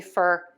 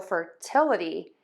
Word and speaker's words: fertility: We're going to shift the stress to right before the a-dee ending. So it's going to be fertility and equality. So fertility and equality.